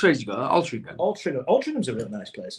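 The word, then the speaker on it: Altrincham: place because it's it's spelled very differently than it sounds don't have a gut in it for a start altering gum why would you have a gut in it gum ALR ham ALR alram ALR ham anyway M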